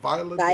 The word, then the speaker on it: Viola Davis: Viola Davis.